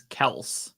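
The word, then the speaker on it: Kelce: citing Travis himself says the pronunciation is Kel oh there we go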